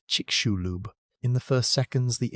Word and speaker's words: Chicxulub: The crater is called Chicxulub, pronounced Chic-shu-lub.